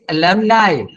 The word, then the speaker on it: alumni: It is alumni, just like alibi. Alumni.